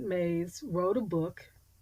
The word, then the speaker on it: Myss: And I talk about remembering your purpose because in Carolyn Mays, and she spells it Myss, but she pronounces it Mays, wrote a book called Sacred Contracts.